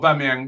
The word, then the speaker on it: Aubameyang: It's a whore. That's how the start of it. Whore. Keep this clean, man. Yeah. It's like whore. Yeah.